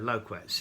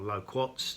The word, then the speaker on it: loquat: the same problem with loquats here or low quartz depending if you prefer to pronounce them that way I also know some people call them loquats even though they've got an A in them um the uh the